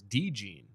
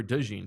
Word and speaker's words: DeJean: gotta I know now this is interesting the pronunciation here from uh Dan bruger is De jeene not Cooper Deen Cooper deene okay okay deene yeah I didn't